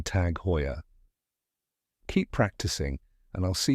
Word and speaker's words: Tag Heuer: luxury time pieces all right let's practice the pronunciation One Last Time tag hoyya fantastic you got it thanks for watching today's